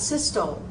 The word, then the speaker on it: systole: Systole. Not systole. Systole. And then nares.